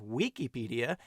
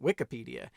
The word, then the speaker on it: Wikipedia: Similarly, Wikipedia should technically be pronounced Wikipedia, not Wikipedia, if we're going to